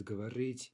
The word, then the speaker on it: говорить: But again, we look at these two following verbs, говорить, получить, the stress is on the final syllable.